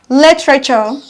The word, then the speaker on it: literature: to the third rule now's the end with suffix you are e are stressed on the first syllable from the beginning examples are literature the first level is